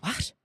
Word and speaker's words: what: In Ireland, the H in what is actually pronounced. They go, what?